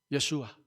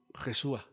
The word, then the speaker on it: Yeshua: usted ha prestado atención algunos nombres en el hebreo nos no se producen como G sino como ya yeshua no josua pero al hacer las